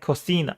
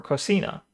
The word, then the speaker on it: cocina: In Spain, the C in cocina it's pronounced with a th, like cocina. Cocina. It sounds like lisp. Cocina. Whereas in Mexico, it's pronounced with an S for cocina.